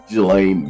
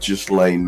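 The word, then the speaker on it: Ghislaine: to talk about his partner uh Jain Maxwell because I think that or just Lane or I believe it's just Lane. I'm going to go with just Lane Maxwell.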